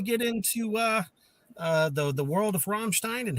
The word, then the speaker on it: Rammstein: I appreciate you saying Rammstein too, and not Ramstein, like a lot of people do sometimes.